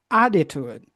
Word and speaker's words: attitude: Attitude Attitude, again. Attitude. attitude, Great. So this words, we have three ways to pronounce it. When it's American, we get the double T. It sounds like a soft D.